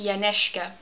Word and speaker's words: Janeska: It's actually pronounced Janeska, and it's a Polish name.